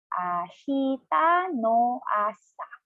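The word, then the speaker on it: 明日の朝: And then one time again, slowly, per syllable, it's ashita no asa, tomorrow morning.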